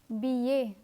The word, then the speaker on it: billet: Let me repeat the words that have double L and are pronounced as y. Famille, coquillage, billet.